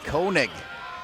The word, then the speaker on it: Koenig: Despite the pronunciation guide, that's K-A-Y, it's Koenig. He would know because that's his cousin, as we say hello to Seth and all of the Koenigs watching this game.